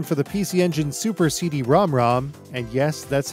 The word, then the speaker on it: CD-ROM²: release of cotton for the pc engine super cd rom rom and yes that's how it's pronounced success beep and island games have brought